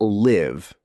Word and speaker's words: live: Let's look at live, to reside, and leave, to depart. The I in live is short, like in sit, while the EA in leave is a long E sound, like in sheep.